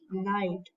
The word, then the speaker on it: Knight: will mark it as Knight NH H3 because the pronunciation of the KN is with n also for example Rook